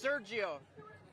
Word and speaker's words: Sergio: It's Sergio. Spell it just in case.